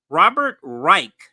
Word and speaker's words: Robert Reich: is how you pronounce the name Robert Reich Robert Reich that's how you pronounce his name Robert Reich um then oops